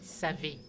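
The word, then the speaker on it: Savè: montagne au Bénin s'appelait SAV S a V e quand on prononce on pourrait croire que ça ça se prononce C et pour éviter d'appeler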